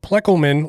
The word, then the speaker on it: Ploeckelman: i'm talking about the one and only ryan pleckelman let's bring him on how's it going tonight